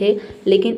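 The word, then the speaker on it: whole: में H letter silent है लेकिन इसमें डब्ल्यू साइलेंट है यहां पे हम होल पढ़ रहे हैं।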